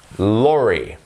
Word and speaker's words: lorry: Number one, lorry. Lorry. Remember that E sound afterwards.